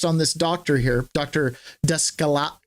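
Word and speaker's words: Daskalakis: Dascala Descalakis Dascalakis. I feel horrible pronouncing his name because it's Greek.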